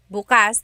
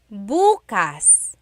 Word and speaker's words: bukas: If you say bas the emphasis is on the second syllable that means open. If you say buas emphasis is on the first syllable that means tomorrow.